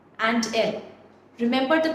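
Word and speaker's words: elles: we have ill and L remember the pronunciation guidelines even if there is an S at the end we do not pronounce that s it is pronounced as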